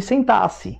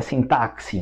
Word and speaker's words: sintaxe: aqui é aula de sintaxe, né? Que tem gente que fala que é sintaxe, mas o nome certo é sintaxe, a forma certa de pronunciar o som do X aí, né?